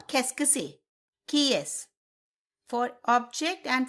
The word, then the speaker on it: qu'est-ce que c'est: The next question is that we are going to cover in this video is qu'est-ce que c'est?